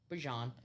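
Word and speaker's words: Bijan: bottom of this and he was like it's Bjon without just letting him you know letting people just call him Bejon cuz Bejian mustard I think.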